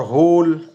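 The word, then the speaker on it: whole: एल को silent रखेंगे और होल एच ओ एल बोल रहे होल लेकिन डब्लू को नहीं बोल रहे ठीक है वाक बालक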